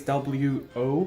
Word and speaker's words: 我: The pinyin is composed of alphabet letters, like in this case W-O, mean that this character should be pronounced wo.